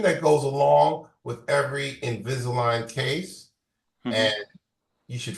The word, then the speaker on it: Invisalign: I'll spell it. Invisil. Invisalign.